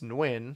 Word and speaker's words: Nguyen: Well, so it's normally it's Nguyen. So Nguyen.